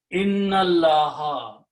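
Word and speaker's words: إِنَّ اللَّهَ: And then you read them together, don't pronounce this alif. Inna Allaha, indeed it is Allah.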